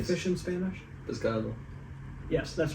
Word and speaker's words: pescado: Pescado.